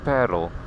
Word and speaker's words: Paarl: Paul is is that in Africans you pronounce it completely different you of course talk about paril and we also like